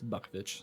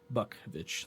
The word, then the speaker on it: Bukvich: in but Montana He his last name is pronounced buckit so people may see that and like how do you pronounce that last name it's buckit so buckit like the deer and vit so then he's